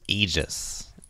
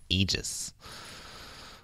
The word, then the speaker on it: Aegis: been funny I just it's pronounced Aegis Aegis yes sir this really pronounced Aegis that AE is supposed to be like drawn together in British English English English they tend